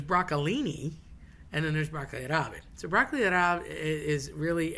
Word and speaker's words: rabe: Um broccoli rabe, right? So, nobody ever says the rabe. They always say rab.